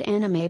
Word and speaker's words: anime: The word anime, pronounced anime, is an abbreviation of the word animation.